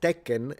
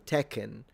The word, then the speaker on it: Tekken: And if I'm speaking English, you you would say, "Yeah, let's play some Tekken." But the N is not pronounced in I mean, it is pronounced in Japanese, but it's nasalized.